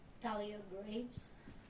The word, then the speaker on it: Thalia Graves: Do you wanna pronounce your name? Thalia Graves.